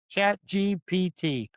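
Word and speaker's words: ChatGPT: Are you saying GPT or GTP? Chat GPT. Okay. Am I saying it right? You are now.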